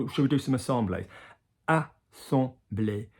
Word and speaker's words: assemblé: So you've got this a duck, on the chest, on the vibration, back up in the duck. So duck, chest, duck. Assembler. Yeah, assemblée. Notice the English way always goes a little bit shorter.